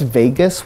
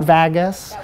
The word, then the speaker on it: vagus: instance, somebody was like, I think it's vagus with like a hard A, not vagus.